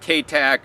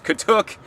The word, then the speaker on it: katuk: They might mispronounce it here in the South, called Katuk or Katuk or something, but it's Katuk.